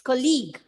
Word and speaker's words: colleague: college, Not college, it's colleague.